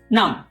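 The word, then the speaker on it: numb: इसमें नम ब नहीं बोलेंगे। इसे बोलेंगे नम। और थंब ब नहीं बोलेंगे। थंब नम।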